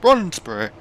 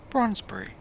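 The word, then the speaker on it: Brondesbury: And always thought, how do you say that? But then, of course, you got the tannoy woman saying, Bronsbury. Train is now approaching Bronsbury.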